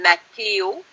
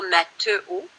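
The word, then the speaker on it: Matheo: Mon prénom s'écrit sans accent, même si on le prononce comme il y en avait un. Alors, il s'appelle Mathéo et non pas Matteo.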